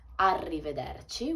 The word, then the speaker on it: arrivederci: you can say ciao you can say arrivederci arrivederci with a double heir so be careful with the pronunciation means goodbye and it's quite formal i